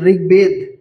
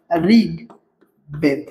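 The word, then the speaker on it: ঋগ্বেদ: ঋগবেদ। ঋগবেদ থাকলে ঋ উচ্চারণ র মত হয়। বলছিলাম ঋগ বেদ।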